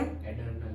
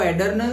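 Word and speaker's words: adrenal: एडर्नल gland. एडर्नल हाँ। नहीं, वो एडर्नल नहीं, वो यही है एड्रेनालिन, एड्रेनल वही है, वो ऐसा दूसरा नहीं।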